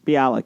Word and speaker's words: Bialik: Bialik, yes.